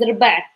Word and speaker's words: ربع: For the short form of number 4 is ربع. You see again, no vowel. This is R, ربع.